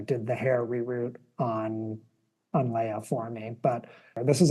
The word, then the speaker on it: Leia: I'm so limited with Leah because she had, I always call her Leah instead of Leia, but they also say her name differently in the movie too, They which is do, so yeah.